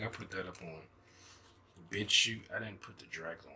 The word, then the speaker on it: BitChute: It's BitChute. That's the name of the website. It's shoot like in a laundry chute or a parachute, like the way it's spelled. It's called BitChute. I think I put it